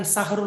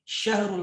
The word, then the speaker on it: syahrul: Bukan sahrul mubarak, tapi syahrul mubarak.